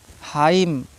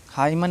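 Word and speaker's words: hymn: column ठीक है डैम हाइम हाइमन नहीं पढ़ा जाएगा ठीक है बहुत से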